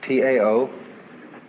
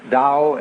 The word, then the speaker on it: Tao: So their principle of nature is called the Tao, T-A-O, pronounced Dao in the Mandarin dialect, Tao in the Shanghai dialect, To in the Cantonese dialect.